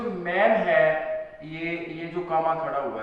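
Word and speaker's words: Hughes: लेकिन इसके बारे में थोड़ा सा बता दूं, ये जो लैंगस्टन ह्यूज, प्रोनाउंसिएशन इसकी ह्यूज, लैंगस्टन ह्यूज, इसमें थोड़ा सा अफ्रीकन टच है,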